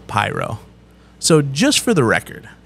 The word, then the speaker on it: Piro: pyro okay which realistically means Piro cuz it's pero wet but we were like let's do pyro